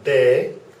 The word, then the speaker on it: B: The B is bay, like in a bay by the sea.